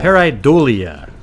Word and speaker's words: pareidolia: Pareidolia.